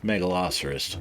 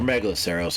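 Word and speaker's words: Megaloceros: Not the trike that just walked in the way, but the uh the uh megalosceros or megaloseros, however you want to pronounce it.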